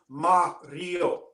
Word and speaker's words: Mario: You should know phonetically it's Mario.